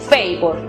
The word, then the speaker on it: favor: Si aplicamos la regla, podemos concluir que la sílaba fa, que es abierta, aplica el sonido abierto, es decir, ei, fei. La siguiente sílaba, vor, aplica el sonido cerrado, es decir, o, vor. La pronunciación final para la palabra favor entonces es favor.